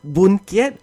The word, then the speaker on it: Boon Kiat: Thus, Boon Kiat, which I believe is written like this with Chinese characters, is the Hokkien pronunciation.